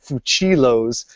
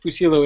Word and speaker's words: Fucillo: Actually, it's my understanding that Fusillo is the correct way to pronounce it, but because usually it takes two C's to get the ch sound, but my family, for whatever reason, has gone with Fucillo the whole time.